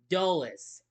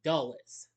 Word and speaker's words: Dulles: Yes, it's the Washington Dulles airport. That's how you pronounce it. Dulles.